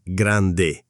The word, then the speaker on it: grande: E la pronuncia, attenzione alle doppie. Grande non è grande, è grande, con la D marcata.